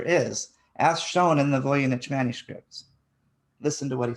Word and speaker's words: Voynich: He's describing to you what nature is, as shown in the Voynich manuscripts. Listen to what he says. Oh, hang on one sec. Just spell that manuscript's name out again. Oh, Voynich, Voynich.